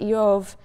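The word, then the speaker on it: אִיּוֹב: purposes the name job which in Hebrew is pronounced IO um is sort of balent in meaning it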